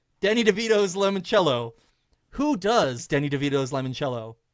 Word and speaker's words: limoncello: This item is called Danny DeVito's Limoncello. Who does Danny DeVito's Limoncello? Ooh. Or limoncello is how it's pronounced.